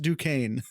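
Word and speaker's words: Duquesne: close enough to Pittsburgh to know that is pronounced Duane um he is the older brother of incoming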